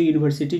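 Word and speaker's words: university: तो यहां पे ये जो यूनिवर्सिटी जो होता है वो कसोनेंट साउंड से शुरू होता है जे यू।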